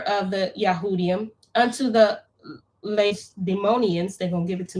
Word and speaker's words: Lacedaemonians: Lacedaemonians. Jonathan the high priest and the elders of the nations and the priests and the other of the Yahudim unto the Lacedaemonians.